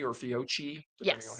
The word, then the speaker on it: Fiocchi: Or Fiocchi or Fiocchi, depending on Yes. how you pronounce it?